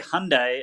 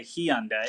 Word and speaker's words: Hyundai: They say Hyundai, and we say Hyundai. Hyundai.